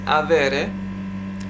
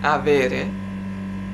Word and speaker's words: avere: to have the infinitive the present infinitive is avere the accent is on the e after v and before or avere then the pronounces are i from the first to the